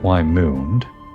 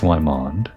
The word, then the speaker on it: Wymond: She probably pronounced it Wymoond, and the correct pronunciation is Wymond, as I have been saying.